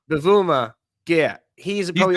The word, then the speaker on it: Bavuma: Oh, Bavuma. Bavuma.